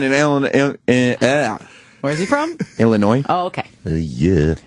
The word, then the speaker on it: Illinois: Illinois. Oh, okay. Yeah. It's you know what it is? It's not pronouncing that S.